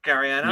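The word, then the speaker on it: Garryana: It's I'm going to say that's the Gariana. That is what it is. Yep, that'll be it. I pronounced that right, Gariana. You did, yeah.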